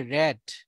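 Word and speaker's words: read: রিড হচ্ছে বি one pronunciation, আর এই রিড এর উচ্চারণ হবে র্যাড, র্যাড, র্যাড হচ্ছে বি টু, আবার এখানেও উচ্চারণ হবে র্যাড, দ্যাট মিনস এটা হচ্ছে বি থ্রি।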